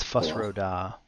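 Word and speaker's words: Fus Ro Dah: nerd card test so that's it yeah it's fus rhoda is the force shout anyway inside to check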